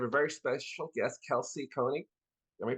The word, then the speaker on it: Koenig: Today I have a very special guest, Kelsey Koenig. Am I pronouncing your last name right?